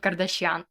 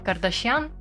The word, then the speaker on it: Кардашьян: зняти це відео Роберт Кардаш'ян чи Кардаш'ян я не пам'ятаю просто Весь прикол в тому що американці насправді знову кажуть неправильно це прізвище в плані того що з неправильним наголосом тому вибачте в мене